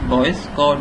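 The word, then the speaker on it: Boyce–Codd: तो बी से जाहिर है कि बॉयज कॉड, ठीक है, अगर आप इसे प्रोनाउंस करें this is बॉयज कॉड normal form, तो यानी बॉयज और कॉड दोनों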